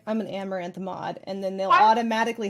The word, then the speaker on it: Amouranth: You can pronounce my name Amaranth. I know it's people say Amaranath or Maranth Amar. It's Amaranth.